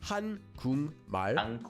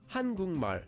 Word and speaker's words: 한국말: Here we have the syllable kuk, which ends in the consonant kiok. And the next syllable after that, 발, starts with the consonant mium. So we change the sound of the kiok at the bottom of kuk into an iang, and that syllable becomes kung. So together we get 한국말, or read quickly, 한국말.